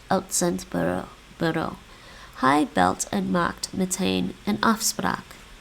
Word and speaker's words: meteen: I think I constantly mispronounce that one. Meteen. Meteen.